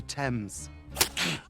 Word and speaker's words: Thames: stupid this all sounds you can't just say x because it rhymes with pains it's the River Thames please we then cut